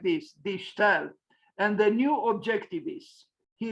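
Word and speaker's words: De Stijl: I checked the pronunciation. It's something like this, die Stel, and the new objectivists.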